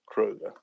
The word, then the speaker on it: Kröger: I just put a typical O, it's Kröger.